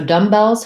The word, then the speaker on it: dumbbells: two word phrases uh so dumbbells has vowel schwa and then we don't say on the word dumb we don't say the be so we just have for the first syllable dumb and then we say the b for the second syllable we have the red tent vowel and uh the letter s says the z sound in dumbbells because uh the l